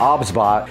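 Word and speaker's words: OBSBOT: But today, OBS bot, now I did pronounce that incorrectly in the last video. It's OBS bot. I was calling it OBS bot. It is not. It's 3 separate letters when you pronounce it.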